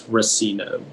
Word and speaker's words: racino: while vacationing in las vegas rasino am i pronouncing that correctly racino yeah it's racino racino r u s s i n o